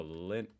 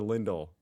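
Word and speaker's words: Lindt: it wrong just oh lint why I've always called it lint or lindle that's a t oh that actually sounds more German with the T how do you pronounce it Lind Lind is it a German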